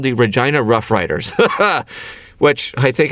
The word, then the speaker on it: Regina: you it's rejoining okay regina you know what that sounds like sounds like a certain female body part regina and they have a